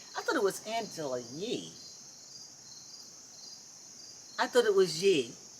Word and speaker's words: Yee: I guess Well, it is Yee. anyway, Oh, yes. is it? Could you Now- spell it?